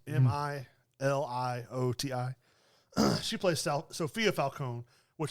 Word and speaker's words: Milioti: Milioti. It's Milioti.